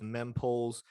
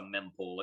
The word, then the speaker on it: mempool: mean poles are memphis it's pronounced it's pronounced a mempool it stands for memory cool it's the number of